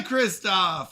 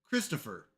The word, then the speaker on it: Christopher: I say your name wrong every time and I'm so sorry. Christopher from How are you doing, Christopher? I'm so sorry. I always stop at Kristoff and I'm so sorry.